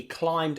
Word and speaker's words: climb: How many silent B letters?